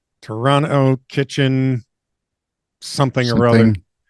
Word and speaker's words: Toronto: Toronto is pronounc pronounced Toronto.